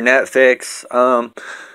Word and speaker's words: Neffex: Here's the logo for Neffex. It is spelled N-E-F-F-E-X.